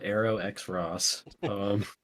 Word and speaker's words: Arrow X Ross: He's notoriously told me he likes it to be pronounced Arrow X Ross.